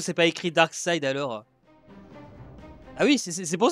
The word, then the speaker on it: Darkseid: Ah c'est bien son écriture, mais ça se prononce Darkseid, d'accord.